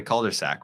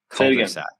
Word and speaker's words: cul-de-sac: We broke down who Coley would want to live in a cul-de-sac with. Why do you keep saying it like that? That's how it's fucking pronounced. There's no R. Cul-de-sac.